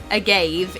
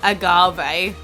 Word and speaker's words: agave: gave up or agave the legitimate way that you're supposed to say I gave is agave according to the internet